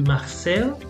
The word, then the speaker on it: Marcel: Okay, this is a French name, so it would be Marcel.